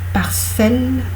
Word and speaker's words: parcelle: Lorsqu'il y a une consonne avant et 2 consonnes après, on ne prononce pas le E. Une parcelle française, une parcelle de terre française, par exemple.